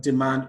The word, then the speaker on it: demand: Supply, madam, demand, request. For supply, the stress is on the second syllable. For madam, the stress is on the first syllable. For demand, the stress is on the second syllable.